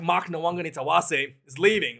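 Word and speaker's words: Nawaqanitawase: And here's how you pronounce it. Let's hear from the man himself. Nawangani-Tawase.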